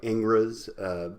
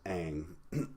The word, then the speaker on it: Ingres: a genre ghost dominique egg it looks like Ingres but it's pronounced hang so let's just talk a little bit about